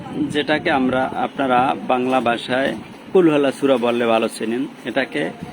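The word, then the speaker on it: قُلْ: কুলহু আল্লাহু আহাদ কুল এই কুল শব্দটা একটু জোরে উচ্চারণ হবে যেমন কুল বড়ই আমরা উচ্চারণ বলি কুল বড়ই বলি এরকম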